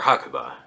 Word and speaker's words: Hakuba: about to head to hakuba uh or hakuba is probably the more accurate pronunciation apparently this weekend the